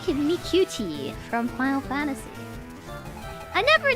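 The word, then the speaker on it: Miqo'te: It's like Mikuti from Final Fantasy. I never knew how to pronounce the name of the cat girls from Final Fantasy, the MMO. It's Mikuti, apparently.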